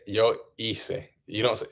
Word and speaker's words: hice: Like if you say yo hice, you don't. It's spelled Hize, but you just ignore it. It's like hice. It's like you just ignore it pretty much. Yeah, it doesn't sound at all.